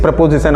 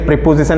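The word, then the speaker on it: preposition: ऑफ the speech is प्रपोजिशन। हमारा जो next part of the speech है वो प्रपोजिशन बोलते हैं इसको प्रपोजिशन बोलते हैं। गलत उच्चारण मत करिए, प्रीपोजिशन नहीं होता है, ये प्रपोजिशन होता है।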